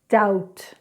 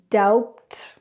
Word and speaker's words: doubt: Now, also when we get B and T together, we do not pronounce the B, as in the words depth or doubt. So I'll say it incorrectly. Depth, debt, doubt, doubt.